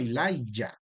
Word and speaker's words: Elijah: Sepa usted que en inglés esa Y viene convirtiéndose en una J, ¿sí? En inglés se escribe el nombre con J, pero suena así, sigue sonando como si fuera una Y del español, Elijah.